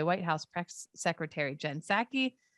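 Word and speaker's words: Psaki: house press secretary jen sackey is it like pterodactyl this b is silent uh who has joined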